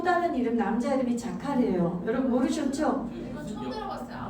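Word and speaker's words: זכר: 자카르타 생각하면 잊어버리지 않겠다. 발음이 어떻게 자카르타 생각하면 안 잊어버리는 게 다 빼고 자카르.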